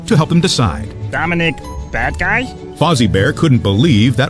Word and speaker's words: Badguy: Dominic, Badguy? Fozzie Bear couldn't believe that was really the tour manager's name. Dominic corrected him. It's pronounced Badguy. It's French. It means good man.